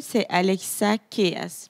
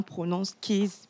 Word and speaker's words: Alexa Keys: En fait, c'est Alexa Keys. Mais bon, certains prononcent Keys. Voilà.